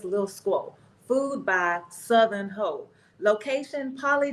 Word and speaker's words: Heaux: How you pronounce Heaux? Ho. H-U-X? Heaux. H-E-A-U-X. Yeah.